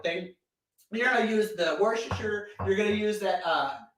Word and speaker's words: Worcestershire: sauce a worcestershire or worcestershire who knows right i mean hey google how do you pronounce worcestershire that's pronounced worcestershire ooh i think it just